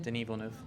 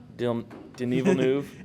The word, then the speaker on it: Denis Villeneuve: Denis Villeneuve. Denis Villeneuve. It doesn't look like how it's spelled.